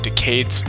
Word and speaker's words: Decade: Decade is a pun on decade, as in this was a 10-year anniversary, but also is pronounced like decayed, like when things are breaking and falling apart.